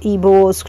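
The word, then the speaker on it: Igbo: उखांखू'स behaviour was controversy to typical ईबोस tradition. ये जो ईबो है यहाँ पर हमारा जी साइलेंट है इलाके का नाम है.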